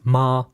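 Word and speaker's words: 妈: Now they don't necessarily understand this is pronounced ma.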